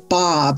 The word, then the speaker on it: Baab: my name is Bob. It rhymes with sob cars.